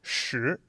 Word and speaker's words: 时: to fit together to make that so the pronunciation is sure so that's going to be in the childhood